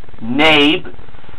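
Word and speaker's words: Knabe: Number one, the brand of piano and freeze frame, I pronounced it as Nabby, it was actually just pronounced Nabe.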